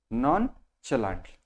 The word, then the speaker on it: nonchalantly: नॉन म्हणतात, तर तो वेगळा सिलॅबल आहे. नॉनचलांटली. द pronunciation of this word is nonchalantly.